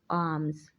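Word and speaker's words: alms: sinful please have mercy upon me arms L is silent in this world arms ablu Uzu we make ablution before offer the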